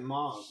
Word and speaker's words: mauve: Oh, I've been saying it like moth, like Mothman. You meant mauve. There's a V in it.